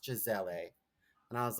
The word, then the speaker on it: Gisele: and I said oh my God are you Giselle and she was getting um people were like cramping her and she's like it's pronounced Gisele and I was like no one knows that